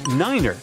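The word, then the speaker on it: niner: some Mega secret code it's the way Pilots pronounce certain numbers in their pilot English tree stands for three five for five and ner is used instead of nine such pronunciation helps to avoid radio miscommunications and the confusion caused by similar sounding numbers uh we're just finishing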